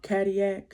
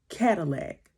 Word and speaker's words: Cadillac: uh Anto Lay Dam Kadia but most people will pronounce his last name Cadillac and It's interesting because a lot of people from Detroit like Cadillac cars and stuff.